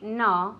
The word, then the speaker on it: no: mugged last week okay now we don't say no we say no no no like the don't it's the same sound don't won't no it's like an OU sound one more time